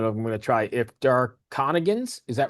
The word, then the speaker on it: Darconigan: the name but I'm going to try if Dark Conigance is that right? Yeah Dark Conigance.